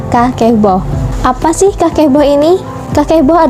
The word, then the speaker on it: kakeibo: ini disebut dengan kevel jadi tulisannya itu adalah kakeibo tapi dibacanya itu adalah kaki bau apa sih Kepo ini